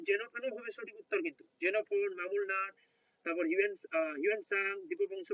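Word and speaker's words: Xenophon: দেখো যে এইবার বলছে জেনোফোন এটা না জেনোফোন না উচ্চারণটা হবে জেনোফোন জেনোফোন কলস হিম এ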